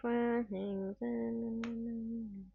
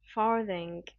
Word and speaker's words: farthing: How do you pronounce that? You owe me faring. Farthing.